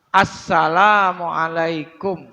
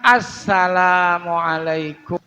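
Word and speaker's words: السلام عليكم: asalamu asalamu asalamu salah Asalamualaikum I banyak orang kalau kalau kalau ngucapin salam tasjidnya enggak dibawa Asalamualaikum Nah itu salah Asalamualaikum salah yang benar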